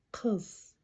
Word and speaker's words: Қыз: На казахском оно звучит как кз.